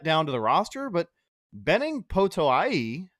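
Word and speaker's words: Benning Potoa'e: to the roster, but Benning Potoai, I think is how you correctly pronounce it. That's what I had heard on the broadcast.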